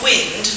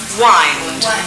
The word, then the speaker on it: wind: Yes, not wind, though. Think about the pronunciation. To wind. Wind.